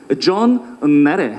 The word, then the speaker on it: 존 나데: 존 나데. 존 나데요. 네, 붙여서 네. 띄어 읽게 하셔야 돼요.